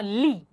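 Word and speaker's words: lit: लित नहीं पढ़ेंगे, मैंने लास्ट वीडियो में भी आपको बताया था हम 80% वर्ड्स लास्ट वॉवल तक प्रोनाउंस करते हैं फ्रेंच में, ठीक है? सो अ लित नहीं, अ ली.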